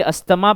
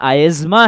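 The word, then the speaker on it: asthma: ठीक है, T silent होता है बच्चों, हम लोग यूजुअली अस्थमा प्रोनाउंस करते हैं, रियल प्रोनाउंसिएशन आयज्मा है।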